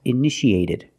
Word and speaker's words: initiated: initiate in the past initiated the second T is between vowels so we pronounce it like a fast D edited initiated initiated it